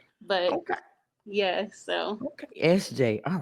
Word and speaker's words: EszJay: So, my stage name is SJ.